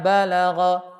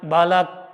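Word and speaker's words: بلغ: Wa idza balagha. Kalau seandainya diwakafkan, si huruf ghainnya ngalir. Wa idza balaghu. Nah, gitu ya. Jangan balak atau balak tapi balag ngalir. Karena punya sifat rakhawah.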